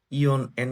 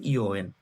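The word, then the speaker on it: 四円: 2 টাকা, 3 টাকা, ইয়ন এন বলে না, এটা যেগুলো আমি হলুদ দিয়ে হচ্ছে মার্ক করেছি, এগুলো হচ্ছে জেএলবিটি তে বেশি আসে, এগুলাতে আপনারা ভুল করবেন, কারণ এগুলো হচ্ছে নর্মালি আমি চারটা হচ্ছে ইয়ন, তাহলে আমি তো বলবো ইয়ন এন কেন বলিনি, কিন্তু এটা হবে ইওএন, এটা হচ্ছে জাপানে, আপনার মুখস্থ রাখবেন অবশ্যই।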